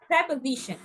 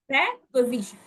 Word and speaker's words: preposition: it's not pre it's pre remember preos please pronunciation preposition preposition divide symbols okay or syllables preposition and the